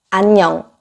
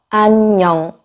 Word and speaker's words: 안녕: 안녕, 안녕, 안녕. 자, 따라해보세요. 안녕, 안녕, 안녕, 안녕. 맞아요. 안녕, 냥 이렇게 냥 발음을 되게 길게 하시는 분들이 많이 있는데 편하게 안녕.